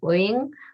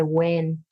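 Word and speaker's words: Uyên: even for vietnamese so technically it's wing but a lot of vietnamese say when um because you have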